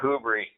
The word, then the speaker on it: Whobrey: We actually say it Whobrey.